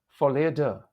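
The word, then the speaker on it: folie à deux: Folie de. People often put the accent on the first syllable, but it's more correct to accent the second syllable. Folie de.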